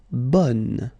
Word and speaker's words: bon: Okay, so bon will become bonne.